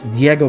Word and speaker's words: Diego: If you guys don't know, the reason why my channel name is DFuego is because it's Diego Fuego. It rhymes.